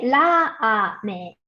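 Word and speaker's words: ラーメン: En japonés se dice ramen. Y el sonido de la A en ra se alarga por el guión.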